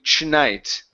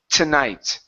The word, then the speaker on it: tonight: Okay, now, this word here, you pronounced a CH at the beginning, saying tonight. Ch. Okay, give me an English T instead of a Portuguese T. Instead of tonight, it's tonight. Tonight.